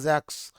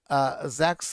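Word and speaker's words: Jaques: আচ্ছা এরপরে আছে জ্যাক্স। জ্যাক্স হচ্ছে জ্যাকুস বাংলায় বললেও মূলত উচ্চারণ হল জ্যাক্স।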